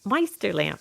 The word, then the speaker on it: Meisterlamp: with me today is Meister lamp although I probably said your name wrong how do you say it I I say um I'm a junior